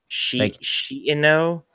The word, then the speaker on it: Shiino: Well, but yeah, both eyes are pronounced separately. It's weird. Shiino?